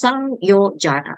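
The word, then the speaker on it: saṃyojana: If you see an M with the diacritic dot here, you pronounce as Sang, as in Sang. So not Sam, it's Sangyojana, Sangyojana.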